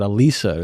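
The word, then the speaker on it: Alisa: Like it's Alyssa, but I pronounce it Elisa, this like romantic Italian.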